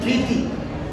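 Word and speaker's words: debt: তারপরে রুল 4 তে আমরা দেখতে পাচ্ছি যদি কোনো শব্দে টি এর পূর্বে বি থাকে, কি থাকে? বি থাকে, তবে বি এর উচ্চারণটা কি হবে? সাইলেন্ট হবে। কি হবে? সাইলেন্ট হবে। এখানে আমরা দেখতে পাচ্ছি ডি ই ডি টি, ডেট হবে না, ডেট হবে। কি হবে? ডেট।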